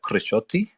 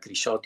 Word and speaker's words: Crisciotti: to to be here my name is grishotti you have pronounced it very well um I'm I'm Italian